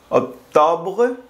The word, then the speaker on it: octobre: para decir septiembre decimos SEP SEP SEP octubre octobre octobre noviembre nov nov y dice diciemb Así